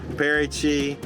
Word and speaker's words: Paraty: Paraty.